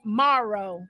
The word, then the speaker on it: Morrow: it Morrow Sunshine is did I say it right Morrow because I was saying marrow when the people would